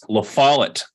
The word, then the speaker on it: LaFollette: my life it's fine it's LaFollette rhymes with wallet well follow it we'll